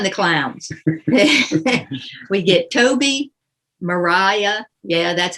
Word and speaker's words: Maria: three here come the clowns we get toby mariah yeah that's how you pronounce it and andrew sir andrew aguecheek uh